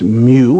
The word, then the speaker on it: mu: and that symbol you see over there is Mu is pronounced mu and then Millie we're all familiar